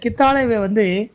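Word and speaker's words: ಕಿತ್ತಳೆ: இந்த கித்தாலேவை ஹீயை போட்டிங்கன்னா அது பித்தளைன்னு ஆகிடும். அதனால் இந்த பழத்துக்கு உச்சரிக்கக்குள்ள உச்சரிப்பு ரொம்ப முக்கியம். கித்தாலே அப்படின்னு தான் சொல்லணும்.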